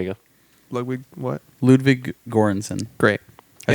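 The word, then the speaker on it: Göransson: by ludwig there you go lugwig what ludwig gorenson great i said jorgensen shout out to him that connect pronunciation but he did um he did black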